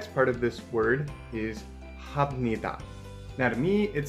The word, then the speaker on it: 합니다: And it sounds like ham, but it's ha. 합니다 means I do or I am doing.